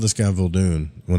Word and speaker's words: Muldoon: Muldoon. I keep saying Muldoon, but it's Muldoon. How many times have I called this guy Muldoon when it's Muldoon?